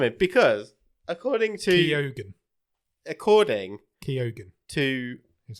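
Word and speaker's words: Keoghan: move far from him because according toog according Keogan to is how you pronounce it okay I've just Googled it good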